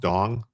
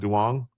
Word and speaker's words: Dong: Dong, it's pronounced Dong, not Duong.